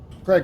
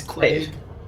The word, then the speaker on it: Quade: Craig, how's your list? I keep saying Craig. It's Craig. Is it Craig? Oh, It's Craig. listen to Oh, it's how I Quade. pronounce anything. Craig. It's Quade.